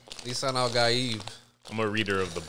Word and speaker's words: Lisan al-Gaib: Lisan al-Gaib. Lisan al-Gaib.